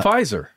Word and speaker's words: Pfizer: From Pfizer. Jesus, that also started with a P, and the P is silent.